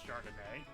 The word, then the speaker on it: Chardonnay: okay continuing also it's pronounced chardonnay yeah i didn't know